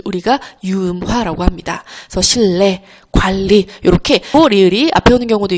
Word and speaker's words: 관리: 자, 그리고 여기 관리 볼게요. 관리 이것도 자연스럽게 발음하면 그냥 관리. 이렇게 니은이 리을로 변하는 유음화가 일어납니다.